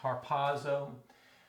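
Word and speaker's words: ἁρπάζω: see it's from harpazo it's just got a rough breather so that's why we pronounce it like let word letter h harpazo so this says will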